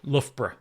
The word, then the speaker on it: Loughborough: Loughborough. No. That's Over an to you, hard one Candy. to say. Well, because it's spelled Luga Baruga.